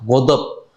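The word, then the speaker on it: غضب: Pengucapannya saja lebih susah, godop. Godop, nah, susah Pak. Ghain susah, dot susah, ba itu qalqalah.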